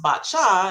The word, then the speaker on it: Pasha: Uh there was one one athlete that um mocked my name u and it's pronounced bacha and I explained to her uh the history